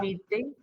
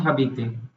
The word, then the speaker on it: habite: Self introduction में, या Habite. हाँ. Habite. नॉट हबीते, Habit. Habit. एच is silent, H. They don't pronounce H, right?